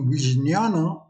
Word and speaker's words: vijnana: the word he vijnana spelled it v i j n a n the correct pronunciation being vijayana which is not his